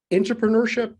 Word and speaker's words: intrapreneurship: Before we get into that, you've coined a word, intrapreneurship. Did I pronounce that correctly?